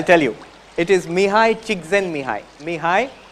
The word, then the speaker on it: Csikszentmihalyi: If you learn how to spell the name and pronounce it, I'll tell you. It is Mihai Csikszentmihalyi. Mihai Csikszentmihalyi.